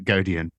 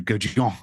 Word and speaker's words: Gaudion: it's got French origins, so I've very much anglicized it to Gaudion, but if I really wanted to go properly posh with it, I could go it's Gaudion.